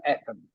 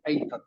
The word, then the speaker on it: Athens: please Athens Athens correct it's pronounced Athens ath not not aens pronounce Athens Athens is